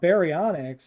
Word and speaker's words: baryonyx: But if you're talking about baryonyx, it's Barry is in B-A-R-Y, like baryonyx, the way you spell it.